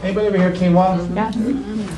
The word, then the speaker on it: quinoa: gluten are grains like quinoa. Anybody ever hear quinoa? Yeah. You might have heard of it, but it doesn't sound like it's spelled. But that's quinoa pasta.